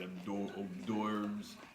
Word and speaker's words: hors d'oeuvres: of fancy steaks and hors d'oeuvres.